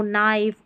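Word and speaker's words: knife: जैसे नो, नाइफ और ये नी, इस तरीके से हम के को नहीं पढ़ रहे हैं के एन वाले कॉम्बिनेशन में।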